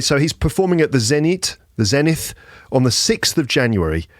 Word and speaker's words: Zenith: That's how I pronounce it in English. Zenith.